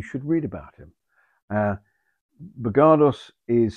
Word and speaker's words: Bogardus: man but you should read about him uh bergardos is spelled b-o-g-a-r-d-u-s regardless um you're looking the the glass balls here the three of them they were painted in about 1877.